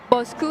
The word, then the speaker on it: Bosu: um it's actually um we pronounce it bosu not BOS BOS bosu so in Indonesian it's like um our boss our boss boss who our boss our boss